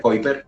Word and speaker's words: Keuper: Escrito Keuper, Keuper en alemán pronunciado.